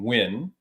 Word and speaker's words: Nguyen: Andy the Crazian Nguyen is how you pronounce it properly, and she looks like 18 and she's like 41.